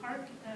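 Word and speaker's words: PARC: Park versus Pennsylvania, Mills versus Board of Education, Raleigh versus Hendrick Henderson School District, and Daniel R.R.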